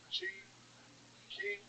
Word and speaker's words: Qi: Key.